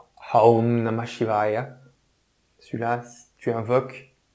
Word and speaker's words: Aum: C'est pour ça que la plupart des mantras débutent par ce son Om, mais Aum, d'ailleurs c'est Aum, en lui-même est un mantra.